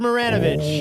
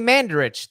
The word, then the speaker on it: Mandarich: Todd Maranovich. Oh. You're not pronouncing that name right.